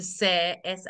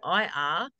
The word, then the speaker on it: Sair: My name is Sarah, but I've shortened it to Sair, Sair, to rhyme with hair because 25 years ago I started hairdressing, lots of Sarahs around, and it sort of just stuck.